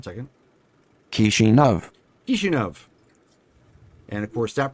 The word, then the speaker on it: Kishinev: Kishinev. Kishinev. And of course, that pronunciation can be heard on the stream.